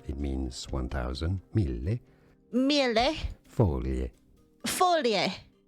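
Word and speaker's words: foglie: Folie. Folie. Folie is how you say. Folie is Italian for leaf. Or leaves, I should say.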